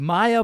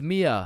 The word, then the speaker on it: Mia: Wait, what the Is is Maya present? Uh, it's it's Mia.